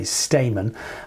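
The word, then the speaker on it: Stayman: responding to one no Trump, I should say, Stamon. And uh it is spelled S T A Y M A N of course.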